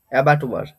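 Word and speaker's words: abattoir: প্রথমে দেখো ভাই কি আছে, এটার উচ্চারণ কি হবে? এটার উচ্চারণ হবে অ্যাবাটুয়ার, অ্যাবাটুয়ার, অ্যাবাটুয়ার। ঠিক আছে, এটা প্রনাউন্সিয়েশন হবে অ্যাবাটুয়ার।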